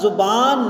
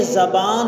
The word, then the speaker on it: زبان: پر لفظ زبان ہے، یہ غلط العام ہے، لفظ زبان نہیں ہے بلکہ زبان ہے، زے پہ زبر ہے۔ محبت نہیں ہے، محبت